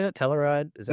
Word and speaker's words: Telluride: Telluride? Is that how you say that? Telluride.